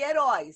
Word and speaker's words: herói: O som é aberto. Som aberto. Herói. O boi, por exemplo, oi tem som fechado.